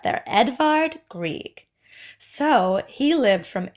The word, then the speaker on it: Edvard: month is Edvard Grieg I know it looks like I just miss Feld Edward but that's how they say it up there Edvard Grieg so he lived